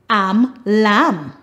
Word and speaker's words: lamb: Words that end with MN, the last letter is silent, the N.